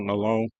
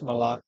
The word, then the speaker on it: Malan: they miss Zach Milan is that how you pronounce it or is it Malone no it's malan okay I thought you might